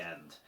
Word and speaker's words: i: And as you can see, I've just squeezed in there the Polish word for and, which is simply the letter i, but obviously pronounced e like in ski.